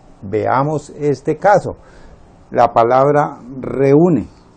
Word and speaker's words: reúne: La palabra reúne. ¿Cuántas sílabas tiene la palabra reúne? Re, u, ne. Tiene 1, 2 y 3 sílabas.